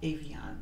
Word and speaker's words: Avon: facial wipes and I love this Iana Avon Avon that's how you pronounce it it's a facial spray it's really